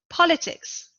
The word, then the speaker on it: politics: just before the end politics politics is a noun political is an adjective we see that in politics the stress is on the first syllable in political distress is